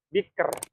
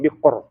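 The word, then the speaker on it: بكر: harakatnya adalah kasrah ya Misalnya gimana n sih sihr ya sihr bukan sihor bukan sihor ya tapi sihr nah biker nah biker biker sih biker ya biker Jadi bukan bukan sihr bukan bikr ya bukan BR tapi sihr biker ya bik biker meemang agak susah tapi harus latihan ya Oke diikuti ya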